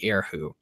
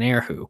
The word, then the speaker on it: erhu: instrument called I believe it's pronounced the erhu. It's funny, whenever I say that, it sounds like, I don't know, I think it sounds like an insult or something like that. Like you call someone an erhu, but I'm pretty sure that's how you pronounce the instrument, the name of this instrument.